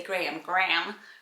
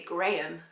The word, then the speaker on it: Graham: 91 was Mohammed, 92 was Graham, which I love how Americans say Graham, like one, and we always say Graham.